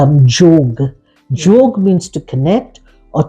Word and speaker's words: yoga: And the real pronunciation of yoga is jog.